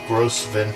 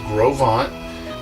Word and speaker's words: Gros Ventre: so this marks one week we're here at Grove on I just felt gross event trip and we didn't know that until till we were here but it's pronounced Grove on so we went to a range of program